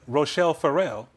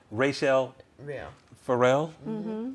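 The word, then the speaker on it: Rachelle Ferrell: sing like denise so like rochelle farrell rachel let me say it right is it rachelle pharrell okay she can go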